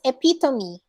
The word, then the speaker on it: epitome: right it's not um it's not epitome it's epitome epitome again it's epitome you're being